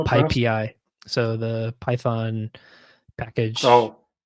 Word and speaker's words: PyPI: or, I've actually learned it's not pronounced PyPy. I think it's called PyPI.